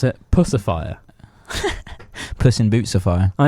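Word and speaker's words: Puscifer: i thought it was i thought it was pronounced pucifer for ages but apparently you actually pronounce it pussifier puss in boot sapphire i know i thought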